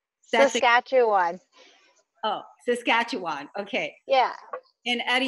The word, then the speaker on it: Saskatchewan: kacho on how do you say Saskatchewan Oh Saskatchewan okay yeah and at a young age you